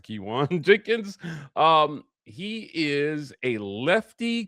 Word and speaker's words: Keyone Jenkins: And yes, that's how it's pronounced. Kiwan Jenkins.